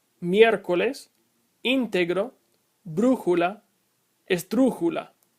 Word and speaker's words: miércoles: If the accent mark were not written, you would pronounce miércoles like miércoles. And since that is not how it is pronounced, you have to put an accent mark over the E.